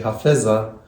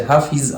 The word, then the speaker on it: Hafez: właśnie pana oto hafeza po polsku mówi się Hafiz ale nie podoba mi się tam ta wersja Hafiz bo dla mnie jest dziwna A hafez to jest taka jakik chyba on